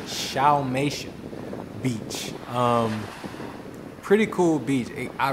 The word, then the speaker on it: Xiaomeisha: So it's pronounced Xiaomeisha, Xiaomeisha Beach.